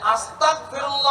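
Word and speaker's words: أستغفر الله: একটু ভুল হয়ে যায় এখানে দিয়ে বাংলায় গর উচ্চারণ কিন্তু অনেকে আস্তা যদি কাফ দিয়ে করেন যেটা বাংলায় কলে আস্তাগফিরুল্লাহ অর্থ হল আল্লাহ তোমার কাছে ক্ষমা চাইতেছি আর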